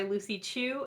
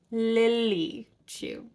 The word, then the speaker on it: Lily Chu: read the stand-in by Lucy Chu her name is Lily too I say it wrong in this video three times but her name is Lily Chu I actually had the